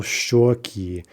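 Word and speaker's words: щёки: Shika, cheek, becomes in the plural shoki.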